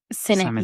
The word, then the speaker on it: Sinek: Sinek.